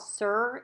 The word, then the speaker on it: Sur: So now I'm going to go in with this MAC blush, and it's called Sur. It's spelled S-U-R.